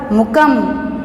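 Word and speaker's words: मूकम्: यहाँ पर प्रोनाउंसिएशन होगा मुकम, मुकम। यहाँ पर अनुस्वार है इसलिए मुकम ऐसा है।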